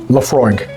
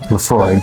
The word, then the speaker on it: Laphroaig: So the correct pronunciation is Laphroaig. Laphroaig.